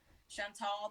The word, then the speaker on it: Chantal: So Chantal the doll, the tall rhyme with doll, and that's what I went with.